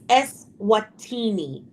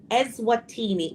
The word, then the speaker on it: Eswatini: I don't even know how to pronounce Eswina.